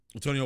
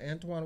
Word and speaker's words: Antoine: Antonio Walker. Antoine Walker. Is that what that is? Yes, yeah, it's pronounced Antoine, but you could, man.